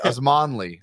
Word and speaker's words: Osmanli: Oh, I was right. Osmanli. I might be saying it wrong, but I kind of said it right. Correct. Yeah. Yes. Osmanli versus Sanev, January 25th.